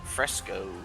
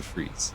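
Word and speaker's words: frieze: you pronounce that fretes Fresco no it's not fresco fro fro fro hold on hold I want to um freeze freeze it's pronounced a freeze so freezes okay nice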